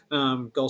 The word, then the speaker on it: Gal: Gull is spelled G-A-L, and is. Gull.